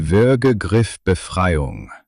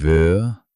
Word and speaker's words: Würgegriffbefreiung: What she has, what you need to remember, is called die Würgegriffbefreiung. Die Würgegriffbefreiung. The choke, escape. Say it slowly. Die Würgegriffbefreiung. 6 syllables standing between consciousness and darkness.